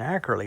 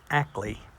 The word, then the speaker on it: Ackley: and annette's name wrong i've been saying accurately that's not right it's actly tom and annette ackley in in pennsylvania making